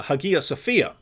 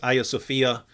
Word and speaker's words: Hagia Sophia: released a video on uh hagia sophia um that's that that would be the original greek pronunciation um in turkish now i think it's aya sophia and so this was